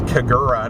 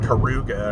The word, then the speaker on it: Kagura: I said blast instead of burst because of the font, and I think it's Kagura, not Karuga, or whatever the fuck I was saying.